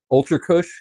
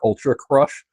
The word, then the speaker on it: Ultra Kush: We got Ultra Kush, who I hilariously heard someone mispronounce last week. Ultra Crush, which cracks me up every time.